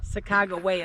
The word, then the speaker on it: Sacagawea: Springs um it was saak jaia they gave it to her Saga Sago waya is really how you're supposed to pronounce it but they um she